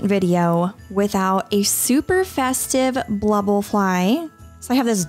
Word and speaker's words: blubble: how it is spelled it is b l u b b l e f l y yes blubble not bubble this is actually a